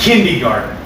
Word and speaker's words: kindergarten: Or one that always bothers me that everybody pronounces wrong down here Oh, Lord. is kindergarten. Kindergarten? They leave the R off.